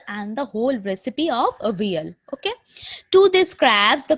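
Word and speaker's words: Avial: He named it a veal. A veal. There is the pronunciation.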